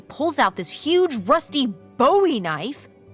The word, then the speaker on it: Bowie: no warning, he pulls out this huge rusty Bowie knife. It's actually pronounced Buoie. What? No, it's like the last name like David Bowie. Different last name. Buoy.